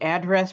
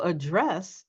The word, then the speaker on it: address: Are you putting the stress where it belongs for the noun and stress where it belongs for the verb?